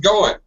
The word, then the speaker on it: going: Get rid of your NG. Just go in with an N sound.